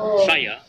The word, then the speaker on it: saya: Saya, meaning I, is pronounced saya.